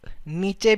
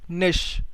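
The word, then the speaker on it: niche: इसको कई लोग नीचे भी प्रोनाउंस करते हैं, ठीक है, ये नीचे नहीं, इसको हम प्रोनाउंस करते हैं निश, ठीक है, निश स्ट्रैटेजी।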